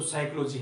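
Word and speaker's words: psychology: साइकोलॉजी कहा जाता है पीस में साइलेंट रहता है तो साइकोलॉजी है मनोविज्ञान की अगर बात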